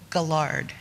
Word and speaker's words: Guillard: Chris and his partner Michael Guillard hard G right called lethal lies that